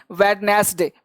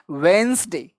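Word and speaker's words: Wednesday: अब देखो ये साउंड है, बहुत लोग इसको बोलते हैं वेडनेसडे, बिल्कुल सही बोलते हैं। कभी कभी इसका साउंड होता है वेंसडे।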